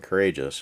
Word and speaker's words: Korajus: Captain Korajus, pronounced Captain Courageous, does a channel on old school RPGs on YouTube.